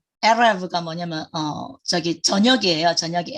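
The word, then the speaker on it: ערב: 예, 그리고 그다음에 이제 여기 래쉬를 얘기 드린 이유는 이건 영어의 R 발음에 해당돼요. R. 근데 조금 이제 히브리어식으로 하면 예, 에레브가 뭐냐면 저기 저녁이에요. 저녁이 에레브.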